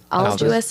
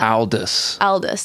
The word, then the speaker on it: Aldous: you in there somewhere I think it's Aldous Aldous yeah Aldous Huxley there we go that's it yeah yeah